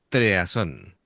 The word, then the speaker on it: TRE@SON: Es un grupo que se llama Treason, ¿vale? Aunque se escribe con la A como si fuera una arroba.